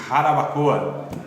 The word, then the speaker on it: Jarabacoa: Tá bom, então anotem aí mais uma área fundamental da sociedade que nós devemos atuar segundo a proposta da Declaração de Harabacoa. Se escreve Jarabacoa, mas...